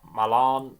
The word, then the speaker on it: Malen: Malon uh me this I've heard different ways of pronouncing Dutch names so I'm going to go with M um that's what the commentary was saying but malan Meen there's different ways of pronouncing it um that pass and